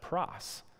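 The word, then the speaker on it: πρός: here the preposition is not para it's it's pronounced Pross and Pross is a Greek word that means something a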